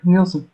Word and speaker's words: Nielsen: Nielsen? Is that your? That's right. That's how you spell it. Do what now? Yep, that's right, Nielsen. Okay, cool. Sorry. I mispronounced one person's name one time, and I've been paranoid ever since.